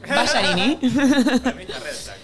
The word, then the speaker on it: Ballarini: Ballarini. Me dijeron, pronúncelo bien, lo pronuncié mal. Ballarini.